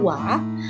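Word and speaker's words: は: menggunakan hiragana Wow partikel yang pertama adalah partikel-partikel wa ini ditulis menggunakan hiragana hayyan Al tapi tetap dilafalkan atau dibacanya uap partikel ini memiliki beberapa fungsi fungsi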